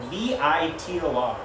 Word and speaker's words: Vitor: Am I pronouncing that name wrong? It's Vitor. Vitor?